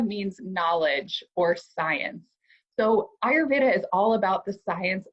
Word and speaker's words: Ayurveda: a lot of different ways, but it's really pronounced Ayurveda. And it is the science of longevity. So Ayur means life in Sanskrit, and Veda means knowledge or science. So Ayurveda is all about the science of longevity, the science of life.